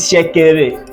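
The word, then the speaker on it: Shekere: This is Shakere. That pronunciation is Yoruba and it's strict Yoruba.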